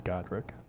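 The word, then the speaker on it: Godrick: It is Godric.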